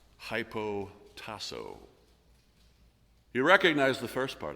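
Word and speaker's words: ὑποτάσσω: negative connotations it's a compound word which is pronounced hypo taso you recognize the first part I'm sure hypo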